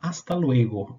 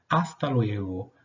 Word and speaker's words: hasta luego: comenzar mostrándoles la forma hasta luego en español hasta luego y la pronunciación importante tenemos esta letra que nosotros la decimos h no tiene pronunciación ella es una letra muda entonces hasta luego no tiene una pronunciación